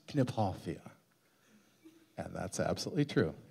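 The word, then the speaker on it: Kniphofia: it's to be pronounced gipoia and that's absolutely true if it's named after a person you use even the regional pronunciation of his name so it's Foria sorry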